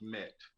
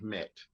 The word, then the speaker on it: MMET: um with mnet solutions it's uh it's actually pronounced met oh no problem no problem um pronounced mmet met and what we do is i mean of